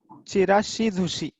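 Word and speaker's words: ちらし寿司: Chirashi Zushi. Sushi is a famous dish, Japanese famous dish. Okay, this is a variety of sushi. Chirashi Zushi.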